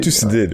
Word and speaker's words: Thucydide: je sais pas mal prononcer son nom, c'est quoi, Thucydide? Thucydide, ouais.